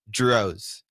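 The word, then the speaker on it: Drozd: pronounce your last name drose and it's spelled DZ d r Oz D yeah d r o o the second D is silent Dro Dro okay well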